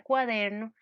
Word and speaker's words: cuaderno: caso entonces veamos que el acento prosódico porque no tiene tilde de la palabra cuaderno el acento está en la der en la sílaba der ok las palabras del